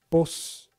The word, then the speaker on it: p'os: So, let me try this. Chich versus chich. Pos and pos.